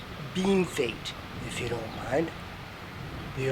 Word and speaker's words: Bienfait: out to me that even though piano fate means well done and french and was supposedly bestowed by french railway workers the accepted pronunciation is bean fate if you don't mind